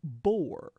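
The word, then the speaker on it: Boer: stanza is the word bore it's pronounced the same as bore b o r e as in boring that's called a homophone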